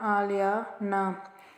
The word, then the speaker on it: Alyana: और आलियाना को प्रोनाउंस कैसे किया जाएगा, जैसे मैं आपको अनाउंस करके बता रही हूँ, आलिया ना, ALAY आलिया NA आलियाना।